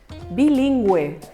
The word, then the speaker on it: bilingüe: En español existe la posibilidad de que esta U sí se pronuncia. Gue, gui. ¿Cómo se llama la persona que habla 2 lenguas? Bilingüe.